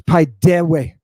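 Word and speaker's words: παιδεύω: Paidewe. Look how I'm pronouncing it. Paidewe. You hear my digamma coming out of the upsilon?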